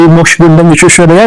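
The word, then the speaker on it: Mokshagundam Visvesvaraya: I'll call him Sri Mokshgundam Vishweshwaraya, not M. Vishweshwaraya, because as Indians, we should be able to pronounce it properly.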